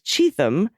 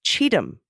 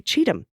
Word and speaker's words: Cheatham: people are lovely though the county is pronounced like Cheatham as in when donors send money to Trump he's guaranteed to cheat him I don't have